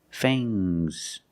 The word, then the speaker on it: fangs: teeth are called fangs use a long a plus the nasal sound and a soft fangs fangs and the S is